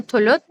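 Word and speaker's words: Thuluth: कतल सुलुत have two names. It कैन be pronounced eight कतल तुलुत टी एच यू एल यू टी एच और इट कैन बी कत्ल सुलुस्त एस यू एल एस यू एस सुलुस।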